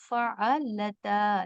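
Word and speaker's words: فعلتا: तो आप लोग उस गलती मत कीजिए और इसको फ़अलता, लता मतलब लाम हैविंग जबर here, so you have to pronounce La.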